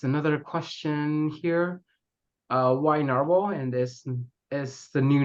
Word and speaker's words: Nahvalur: pins um yes another question here uh why naral and this is the new name still pronounced naral um yes the name is um the is